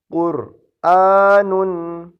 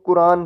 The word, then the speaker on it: قرآن: گا، مشق لازم ہے۔ قرآن، اسے لوگ قرآن پڑھتے ہیں، قرآن نہیں ہے، یہ حمزہ کی اپنی کھڑی زبر ہے، قرآن نہیں ہے، قرآن۔ آگے حمزہ زبر لام